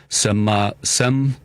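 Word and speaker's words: cempasúchil: And then the marigold flower, which I believe is pronounced sempasuchil, I think is how you say it, or flor de muerto.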